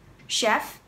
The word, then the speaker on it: chef: Chef, chef, cook. Cái từ chef này là bắt nguồn từ tiếng Pháp, nên các bạn phải say chữ CH, được phát âm là ch, chef, chef and cook.